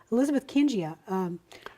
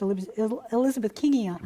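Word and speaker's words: Elizabethkingia: But generally, when you pronounce these names, an I following a G, it makes it a J sound.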